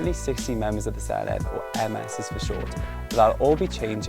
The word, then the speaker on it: Senedd: It's pronounced Senedd, which literally means parliament in Welsh.